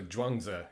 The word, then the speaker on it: Zhuangzi: These words are pronounced the same. So Zhuangzi is how you pronounce this, whichever way you're writing it in Roman letters.